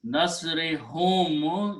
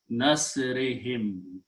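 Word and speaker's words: نصرهم: He says, when I pronounce nasri hum, it doesn't sound very good. I'm going to pronounce this nasrihim. Easy to pronounce, two kasras together.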